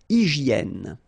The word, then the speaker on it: hygiène: So remember, we've got this Y here, vowel, and it's pronounced like E, okay? Hygiène. H doesn't exist, H doesn't exist in French, so hygiène.